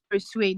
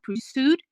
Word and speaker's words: persuade: The next one is persuade, not pursued. Persuade, and also not at them, like or to them.